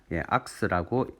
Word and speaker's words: ARCS: 그냥 편하게 읽으실 때 그냥 악서, 크게 한 소리 내보세요. 악스라고 읽으시면 될 것 같습니다.